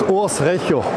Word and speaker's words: Urs Recher: It's pronounced Urs Recher. Okay. Urs Recher.